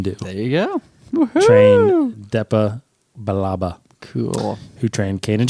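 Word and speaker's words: Billaba: Deepa balaba Baba which Baba is how I balaba is how it's pronounced therea balaba DEA DEA balaba so who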